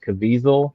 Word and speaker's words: Caviezel: And I believe this was John, is it Caviezel? Is that not John Caviezel? How do you say his name? Hazel. Caviezel.